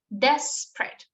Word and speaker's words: desperate: Yes, the stress, el acento está en la primera sílaba.